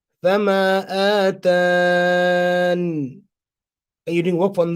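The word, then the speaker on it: فَمَا آتَانِ: The extra ya can be dropped or pronounced during waqf. So hadful ya or ithbatiha. You could do both. You could drop it. So if you drop it, Fama atan.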